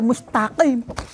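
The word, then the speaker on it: مستقيم: Jadi direvisinya itu bukan direvisi mengubah, enggak, wong ini walaupun tulisannya mustafin, dibacanya itu ya mustaqim.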